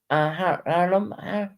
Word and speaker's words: Harlem: And excuse my accent if I'm pronouncing that incorrectly. Harlem, yeah, Harlem.